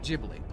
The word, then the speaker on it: Ghibli: last H who knows it's an Italian word for an African win used by a Japanese studio and I'm American we're all doomed I'm going to pronounce it jibli you might know Studio jibli from their critically acclaimed